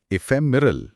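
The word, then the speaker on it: ephemeral: एफेमिरल उच्चारण है इफेमिरल हम हिंदी में मतलब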